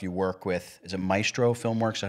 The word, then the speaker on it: Maestro Filmworks: You work with, is it Maestro Filmworks? Is that how you pronounce the name?